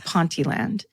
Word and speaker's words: Ponteland: I've been given the the pronunciation, I don't trust it. And I don't want to be attacked for it, but apparently it's Ponteland.